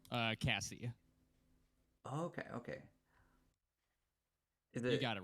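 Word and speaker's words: Cassey: by the way Cassie was it if you will is it Cassidy as your last name uh Cassie okay okay you got it right kse it's like Casey but Cassie yeah so c-a-s-s-e-y I'm gonna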